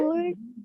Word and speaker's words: could: Can, Could, can't. Could, could, could, couldn't. There is L is silent. You don't have to say L.